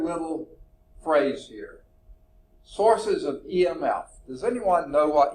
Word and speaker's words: EMF: source of EMF okay just call it EMF don't try to pronounce it imp or something like that it's EMF any devices that increase